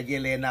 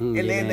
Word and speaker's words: Yelena: si ano si yelena yelena daw kasi siya sa Russian e kaya yelena ako ng yelena e Elena Yung pronunciation pero yelena daw e So yun so